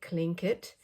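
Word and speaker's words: Tlingit: then I put on here the uh the clink kit that's how you pronounce it clink kit and they are PE it means people of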